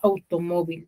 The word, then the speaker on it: automóvil: Au sería una sílaba, to, segunda sílaba, mo, tercera, y vil, cuarta, ¿cierto?